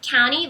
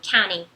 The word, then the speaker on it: county: Mas pra pronúncia americana, county, você não vai pronunciar o T, vai ser como se não tivesse, fosse só um N, county.